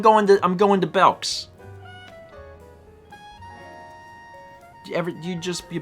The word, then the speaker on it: Belk: no no it's like i've always called it belks but it's actually belk yeah it's belk yeah it's the same thing like oh i'm going to i'm going to belks you ever you just